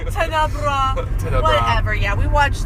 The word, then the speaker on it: Tenebrae: And Tenebrae. Tenebrae. We always say it wrong. Tenebrae.